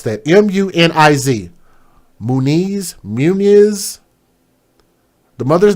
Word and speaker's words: Muniz: I cannot pronounce that. M-U-N-I-Z.